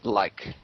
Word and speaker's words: Luik: It's Luik. Okay. Luik. Luik. Luik. Yeah. Luik, yes. That's how you pronounce it.